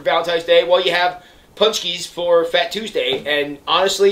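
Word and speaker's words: pączki: and we had to look up how to pronounce it's called a punch key punch key there yeah yeah it's it's a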